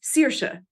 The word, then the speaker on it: Saoirse: Don't try to say, if you say Saoirse instead of Saoirse, George Lucas, it's Saoirse, means freedom in Irish. That's how you say it. That is how it's spelled, and it's spelled phonetically in Irish.